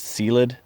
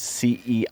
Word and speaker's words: Ceilidh: to pronounce it, it's Sealid or something like that. It's Ceilidh. Don't try Sealid Trail, so something like that.